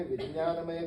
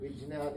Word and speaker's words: विज्ञान: तब उसने विज्ञानमय कोश, हिंदी में ज्ञ का उच्चारण ज्ञ होता है, जो संस्कृत में उसका ज या ज्ञ ऐसा उच्चारण करता है। इसलिए मेरे बोलने में कभी कभी विज्ञान या विज्ञान ऐसा आएगा। शुद्ध बोलना हम लोग नहीं आता।